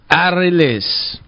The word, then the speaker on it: Arelys: say it either how how do you say it release yeah you gotta roll those eyes there you go